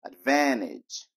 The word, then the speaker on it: advantage: muito difícil de pronunciar corta o t e dela vai virar Advantage Advantage Qual o nome